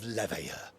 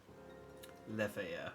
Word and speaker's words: Leveilleur: Alphino, Alizé, as of this moment, you shall no longer bear the name of Leveilleur. Leveilleur. I forget the L's aren't pronounced.